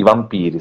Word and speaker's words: Vampir: che vi faccio vedere, si chiama Vampir, credo di aver pronunciato bene perché credo che sia in serbo la parola, vero professore? Magari mi corregge anche Sì, lei. ma trasposta in tedesco, quindi vampir va bene.